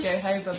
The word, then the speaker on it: jojoba: We're gonna do jojoba oil. Yes, that's definitely how you pronounce it.